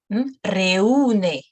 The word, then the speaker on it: reúne: But nonetheless, if we see this sound, we are bound to pronounce this U here. Reúne, one that gathers, reúne.